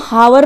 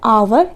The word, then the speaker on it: hour: अब इसको हम हावर नहीं बोलेंगे, तो हम इसको बोलते हैं आवर। एच यहाँ पर साइलेंट हो जाता है, तो इसको हम आवर बोलते हैं।